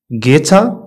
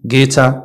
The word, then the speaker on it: guitar: often often silent u u is not pronounced after g and before a vowel يعني u ما كتنطقش من بعد g وقبل من واحد الفاول بحال عندنا guess guidance guitar guess انت هادو كتعرفهم